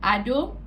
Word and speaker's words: Ado: But my YouTube channel name is basically Ado. That's the first part, Ado. A-D-O, Ado. Ado, not Ado or Ada. It's Ado.